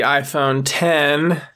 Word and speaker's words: iPhone X: And lastly, after the iPhone 8 was the iPhone 10, the 10th anniversary iPhone. That's why they named it that, but it's spelled with the Roman numeral 10.